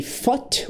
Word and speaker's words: fought: I fought with the Balrog of Morgoth.